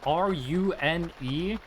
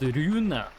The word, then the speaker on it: Rune: One thing that's kind of fun to me is that run, ru n e, is a completely normal name in Norway. It's pronounced runa. It's not pronounced rune, but it's written the exact same way.